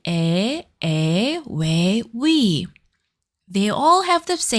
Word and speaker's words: ㅟ: Push your lips forward and say your sound like e.